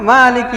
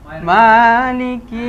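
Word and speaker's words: مَالِكِ: মালিকি ইয়াউমিদ্দিন। তবে এখানে একটু খালি খাড়া জবর হবে না? মালিকি ইয়াউমিদ্দিন। হ্যাঁ, মালিকি ইয়াউমিদ্দিন।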